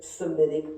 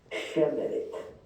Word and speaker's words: Semitic: Akkadian is a Semitic language. Let me remind you that the term Semitic is essentially a mispronunciation. It ought to be pronounced Shemitic.